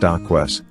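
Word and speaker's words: dacquoise: hazelnut decoys the famous french dessert decoise pronounced docques is so magnificent with layers of nutty meringue and luscious whipped filling 12.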